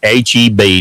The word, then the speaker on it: H-E-B: It's H-E-B, not HEP. HEP is High Back Electric and Plumbing back home. HEP Plumbing Services, whatever. It's Heb, H-E-B. So I'm going to start saying H-E-B. You got to say it right.